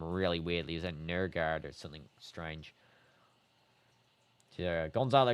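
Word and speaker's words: Nørgaard: Norgard's name is pronounced like Nurgard or something like really weird.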